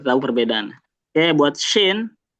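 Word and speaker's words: شين: Oke, buat shin. Nah, shin ini dia berbeda sama Jim. Kalau Jim tadi dia enggak mengeluarkan udara. Kalau shin dia sudah pasti mengeluarkan udara ya otomatis ya.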